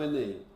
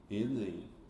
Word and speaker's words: Enem: Você pronuncia como se fosse um nome.